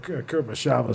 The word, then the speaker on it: Kurosawa: soundtrack Yeah, for it was based off of Kurosawa's short story. That's how you pronounce it.